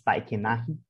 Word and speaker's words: Tainacan: legend about the star that they name as tainakan in their pronounces tai kenahi and it's basically it's